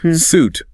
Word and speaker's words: suit: Suit refers to a set of matching garments, jacket, trousers, often formal. Like for an interview. Exactly. The pronunciation is suit. rhymes with boot.